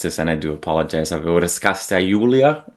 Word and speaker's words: Raskasta Joulua: Raskasta Joulua. It's hopefully something. It's at least reminiscent. Wonderful. Yeah, it's Finnish. It's Raskasta finished. Joulua. So it's A little bit more power in there.